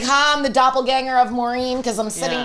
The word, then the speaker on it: doppelganger: So, what is a doppelerg? Why are you guys laughing? It's pronounced doppelganger.